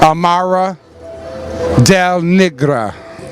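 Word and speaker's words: Amara La Negra: How do you pronounce her name? Oh, Amara Del Negra.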